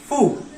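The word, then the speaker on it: ふ: तो इसका जो प्रोनाउंसिएशन है वो हा, ही, हु होना चाहिए था, लेकिन ये थोड़ा एक्सेप्शन है, इसका प्रोनाउंसिएशन आता है फू।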